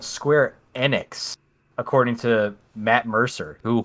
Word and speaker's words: Square Enix: our e3 list was square apparently it's called square enix according to matt mercer who hosted the event